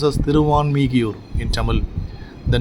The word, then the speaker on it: Thiruvanmiyur: Since Valmiki was blessed here, the place was to be known as Thiruvalmikiyur, which is pronounced as Thiruvanmiyur in Tamil.